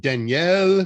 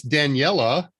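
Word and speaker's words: Daniele: do anything that uh is it danielle which you know that's what i've assumed i've assumed kind of a french pronunciation it's daniella and then when one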